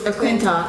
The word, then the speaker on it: McClintock: I did meet with a couple of the representatives, Mr. McLaughlin, did I pronounce that correctly? Jeff? McClintock. McClintock, yes, I have his card here.